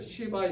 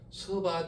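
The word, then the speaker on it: 스바: 남방 여왕이라 하면 이 당시에 어디 나라냐면 바로 서바 여왕, 성경에는 시바 여왕이라고 나와 있죠. 지역은 그 당시 지역으로 말하면 서바 지역이 있기 때문에 서바 여왕입니다. 서바 여왕.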